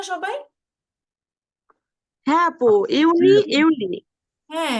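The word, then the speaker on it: Juni: না সবাই হ্যাঁ আপু ইউনি ইউনি হ্যাঁ এটা জুনকে আমরা বলবো ইউনি কারণ এখানে ইয়ট আছে যেটাকে যেটা কিনা ইংরেজিতে যে বলে সেটাকে আমরা ডয়ে ইয়ট শিখেছি এজন্য উচ্চারণ সেই অনুযায়ী ইউনি হবে আর জুলাইটা কি বলেছি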